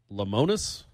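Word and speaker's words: Lemonis: Chris, how would you pronounce lemon with an IS on the end? Lamonis?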